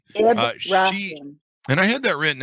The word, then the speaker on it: Ibrahim: We have with us Laila Ibrahim. Laila. Did I get that right? Laila. Just ignore the A. Ibrahim. Did I get that all right? Laila Ibrahim. Laila. But I've heard it all. Ibrahim. Ibrahim.